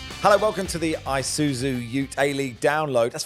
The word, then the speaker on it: Isuzu: hello welcome to the Isuzu you a league download that's first time I've pronounced that correctly first time people normally we're